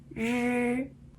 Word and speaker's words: 日: 还有一个就是日。那知、吃、诗、日，它有一个差别是什么呢？日贴上颚的时间是最长的，日。